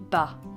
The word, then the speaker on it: bah: the English well and in French it is pronounced bah bah bah it might be aware